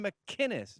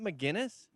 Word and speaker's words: McInnes: Why can't you do a hard C on McInnes? Gavin McInnes, not McGinnis.